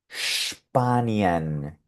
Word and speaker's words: Spanien: Y aquí la combinación de I con E está sonando muy natural, IE. Sin embargo, aquí abajo puedes ver que se repite la combinación de I con E, porque resulta que esta I con E también puede producir un sonido de I en alemán.